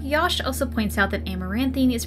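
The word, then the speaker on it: Amaranthine: also points out that a Moran theme is pronounced more like a more in theme Josh then goes on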